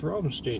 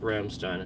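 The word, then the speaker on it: Rammstein: people are like Oh I thought it was romstein no it's pronounced Ramstein if you know Ramstein and you know the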